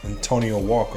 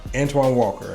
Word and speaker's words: Antoine Walker: we got antonio mcdice oh no no no antonio walker i'm sorry you guys we have antoine walker and i need to say his name correctly